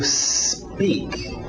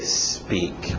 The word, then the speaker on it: speak: To speak. To speak. Cuidado com essa pronúncia. A tendência desse S antes do P, quem fala português, é querer colocar uma vogal de apoio, dizer to speak, porque a nossa letra